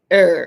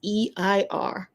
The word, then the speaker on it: Eir: He wrote something about goddess Eir or Eir. I've seen the pronunciation both ways. It's Eir, which could be like air or Eir. I like Eir.